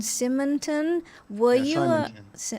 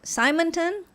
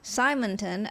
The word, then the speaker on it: Simonton: It was founded by John Simonton. Simonton? Yeah. Thank you. We all pronounce words differently across the world, so thanks for the correction. Simonton, were you a partner of PAIA or a